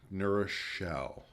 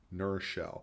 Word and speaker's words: New Rochelle: That's how you know whoever's saying it isn't from there, if they actually pronounce it as two words.